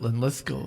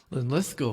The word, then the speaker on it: Linlithgow: How did you choose Linlithgow for this song? And I had to be honest and say, well, it's because it has 3 syllables and the emphasis is on the middle syllable.